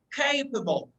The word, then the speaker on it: capable: when you say okay develop the stress of capable okay don't say complain but say capable when you say the stress is the first syllable capable so you are teaching